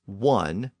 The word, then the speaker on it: one: for some unknown reason they survived in the words one and once and by the 1700s that initial W sound in those words had become standard throughout English so that helps to